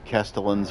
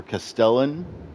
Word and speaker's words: Castellan: We can go back to Castellin's Hall. or Castellan, however you want to pronounce it.